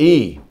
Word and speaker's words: Yi: In the Taoist philosophy, they have a thing called the Yi, the E.